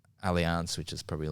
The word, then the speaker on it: Allianz: I've been to Brazil and done trained at like Allianz, which is probably like historically one of the best You don't competitions. say alliance, you say alliance. Allianz. That's how they say it.